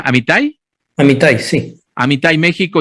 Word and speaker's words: Amitai: fundador y global CEO de Amitai, ¿así se pronuncia Amitai? Amitai, sí.